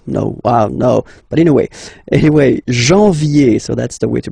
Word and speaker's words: janvier: But anyway, janvier, so that's the way to pronounce it.